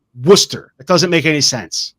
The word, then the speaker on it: Worcester: England had their way the state would be pronounced Metts because you don't need the center like Worcester w oce s t e r Worcester it doesn't make any sense wer why is